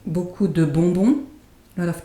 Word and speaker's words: beaucoup: Beaucoup de, and the P is not pronounced here either.